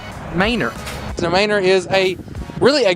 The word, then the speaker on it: Manor: It's not Manor, it is Manor.